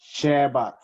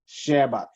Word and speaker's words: Shabbat: with the sms transliterated it is pronounced like this shabbat shabbat with the th okay and since he